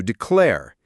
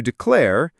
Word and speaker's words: declare: And the pronunciation, as we mentioned, has the stress on the second syllable, declare.